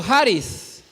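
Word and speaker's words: χάρις: información cuando dijo gracias esta palabra gracia se pronuncia en griego jaris y dice que esta palabra denota una acción específicamente haris es la influencia divina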